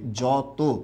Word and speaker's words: যত: ঠিক একই রকম ভাবে এটা উচ্চারণটা কি হবে তত, এটার উচ্চারণটা হবে মত, আর এটার উচ্চারণটা কি হবে বর্গীয় জ হয়ে যাবে যত। কেন বর্গীয় জ হবে সবাই আশা করি বুঝতে পেরেছেন।